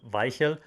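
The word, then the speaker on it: Weichel: 14-12 and yes yes you pronounce it vai hill uh because he's from germany so how can i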